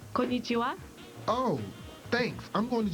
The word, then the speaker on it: konnichiwa: Kanaichi something. It's pronounced konnichiwa.